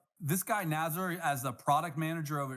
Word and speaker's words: Nazar: It's actually Nazar. So, but Nazar is also okay.